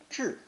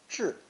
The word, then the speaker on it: 制: It's pronounced fourth tone, zhi, zhi.